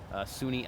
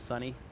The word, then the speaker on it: SUNY: And it's pronounced SUNY. That's actually something I never knew, the actual story behind that. Yeah, a lot of folks from around the country, they think it's sunny.